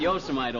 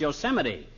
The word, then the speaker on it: Yosemite: Had a job on a ranch out there for a while up near that state park, Yosemite. No, not Yosemite, Oldtimer. That's pronounced Yosemite.